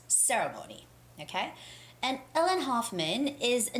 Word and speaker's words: Hoffman: ellen hoffman and it's not huffman it's hoffman hoffman ellen hoffman all right and the